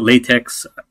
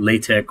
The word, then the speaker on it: LaTeX: of this text here some people call it latex others call it latch or latch I guess there's different pronunciations based off based on who you talk to but but the